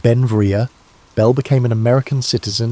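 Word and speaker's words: Beinn Bhreagh: Pronounced Benvia, Bel became an American citizen in 1882, but his name meaning beautiful mountain in Scottish Gaelic showed his Scottish heritage.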